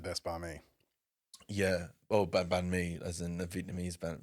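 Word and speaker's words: bánh mì: Oh, banh mi, as in the Vietnamese banh. Yes, You have to say it like banh mi.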